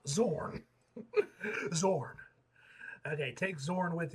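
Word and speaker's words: Xorn: Okay, that's how it's pronounced. Zorn.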